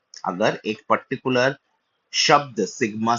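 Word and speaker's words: ξ: 14th अक्षर को जो हम लोग कहते हैं वो है शी। एक्स आई, शी। जैसे शायोमी, शियोमी जो उच्चारण होता है, जो चाइनीज भाषा में बहुत देखते हैं, इसको शाई बहुत लोग बोलते हैं, ऐसा नहीं, इट्स शी।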